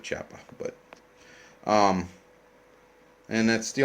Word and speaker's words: Chiappa: uh little looksie at the choppy chappa or however you pronounce it that's how I pronounce it chappa but um and that's